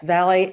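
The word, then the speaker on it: Vallie: Valley and Rodney Guyire.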